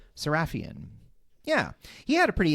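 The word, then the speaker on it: Sarafian: Now, Living Doll was written by Jerry Soul and directed by Richard C. Sarafhian. Saraphian.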